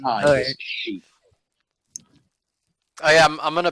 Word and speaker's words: Xi: pronounced As an X X is pronounced as sh so x y x i is she oh yeah I'm going